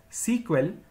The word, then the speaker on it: SQL: initially the language was known as Structured English query language pronounced as sequel which was later changed into SQL in the year 1978.